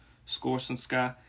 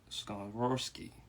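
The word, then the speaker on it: Skoronski: Northwestern tackle Peter uh score some Sky he he's definitely uh I'm sorry scarborowski that's how you pronounce his name these These are good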